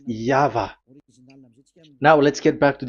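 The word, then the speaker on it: Yahweh: It is V. Y H VH. So it is Yava.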